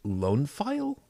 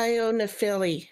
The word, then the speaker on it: Io Nephili: Lone File? Lone Feel? I am unfamiliar. But that's welcome. Io Nephili, as in Io Cloud.